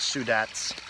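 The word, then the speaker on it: Sudac: a three-day retreat with father Sudak pronounced sue dat's and he I didn't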